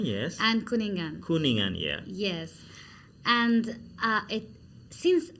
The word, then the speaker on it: Kuningan: And in Galungan and Kuningan, I'm saying it right?